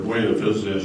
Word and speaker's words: Buena Vista: Now, Buena Vista, Oregon, or Buena Vista as you might pronounce it, Buena Vista, Oregon, what was that?